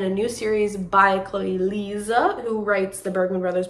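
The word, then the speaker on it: Liese: on like online, that her name is not actually pronounced Lise. I think it's Liza, like Liza, Z-U, like there's a Z sound in there.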